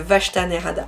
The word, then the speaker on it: Vashta Nerada: prononcer le vachetanerada voilà chaque fois j'ai j'ai envie de dire vach c'est le vachtanerada donc cette pièce je